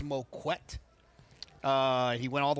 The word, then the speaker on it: Moquett: He did teach me how to pronounce his name. It is Moquett.